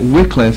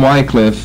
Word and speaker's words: Wycliffe: out a little further it seems to me that Wycliffe is probably the more correct of the pronunciations so if I may